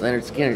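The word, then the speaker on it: Lynyrd Skynyrd: Pronounced Leonard Skinner.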